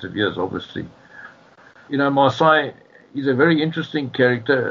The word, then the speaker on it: Marseille: There was only one Marseille. His surname is pronounced the same as the French, but he was a French Huguenot stock, just like Gelland.